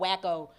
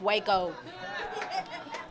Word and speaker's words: Waco: I thought it was called Wacko, but apparently it's Waco.